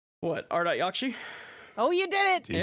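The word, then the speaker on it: Ardat-Yakshi: this will be good let me hear the pronunciation what art yakshi oh you did it you got it you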